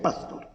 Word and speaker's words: Pastor: Se escribe Pastor, pero se pronuncia Pastor.